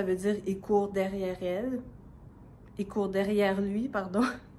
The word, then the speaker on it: elle: il on prononce i puis elle on prononce souvent a salut